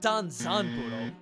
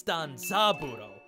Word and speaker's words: Danza Budo: It's not Danzan Budo, it's Danza Budo. Part of it's my dumb dyslexia not seeing letters sometimes, and this stupid kanji, which is pronounced San, Zan, or Mitsu, but in this case Za for some reason, got me all mixed up.